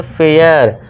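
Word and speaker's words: fair: ए आई के बाद आर है तो इसे क्या पढ़ेंगे? फेयर।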